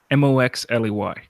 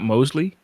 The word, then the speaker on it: Moxley: out something and you tell me how to pronounce it okay mo x le Y obviously not Mosely set mo X right yeah but X could